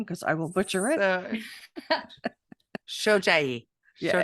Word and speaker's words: Shojai: Shojai. Yeah. Shojai. Very good. I wrote it down phonetically.